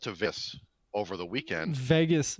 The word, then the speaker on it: Vegas: was saying save vegas and he would go vagus and i would say vegas vegas yes you have to realize that as